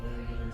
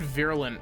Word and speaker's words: virulent: These Leviathans have impacted and embedded themselves deep into each planet, spreading a virulent phase-on carried inside their bodies. You said virulent, very weird. You pronounced the U in virulent.